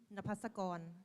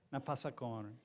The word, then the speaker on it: Napasakon: Napasakon. Napasakon. Yeah, because the K in Thailand is sound like go. Go. Napasakon.